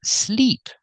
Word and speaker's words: sleep: And this is sleep. The double E makes a long E sound like green beans.